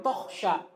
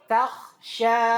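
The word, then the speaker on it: تخشى: Ingat, kha tebal ikhwah, ta tipis, jangan tokhsha. Ta, takhsha, mukhtalif.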